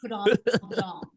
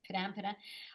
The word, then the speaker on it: Padam Padam: how many times a day do you hear Padam Padam pronounced wrong? Well, firstly, I love how the Americans say We say it wrong every time. Padam Padam. Like Padam Padam. Or uh Padam Padam.